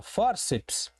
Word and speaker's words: fórceps: Ora, separei silabicamente e percebi que eu tenho uma palavra de duas sílabas, a sílaba um e a sílaba dois. E a sílaba tônica, a sílaba forte, a sílaba que dá o tom desta palavra é a penúltima.